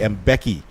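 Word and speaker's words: Mbeki: he gets his first name I know it's mispronounced a lot here locally played the mvk and some other different but it's actually M Becky Joseph well he started his his his training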